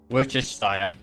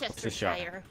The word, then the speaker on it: Worcestershire: Worcestershire. Worcestershire. No, the Worcestershire. I do actually know how to say it. I've just got to like prep myself. Worcestershire. Worcester. No, that's not how you say it.